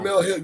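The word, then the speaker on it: Jemele Hill: Um I I sent that I I subscribed to Jamala Hill. I don't know if I'm pronouncing it right. Jamal Jamal. Jamal Hill. Yeah, cuz she comes she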